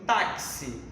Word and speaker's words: táxi: Porque foneticamente o X tem som de KS. Eu pronuncio táxi, logo vou ter 4 letras e 5 fonemas.